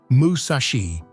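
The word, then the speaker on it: 武蔵: In Japanese, 634 is pronounced musashi.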